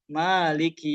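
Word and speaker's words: مَالِكِ: Misalnya Maliki yaumiddin harusnya dibaca panjang Maliki yaumidumiddin tapi bacanya Maliki yaumiddin.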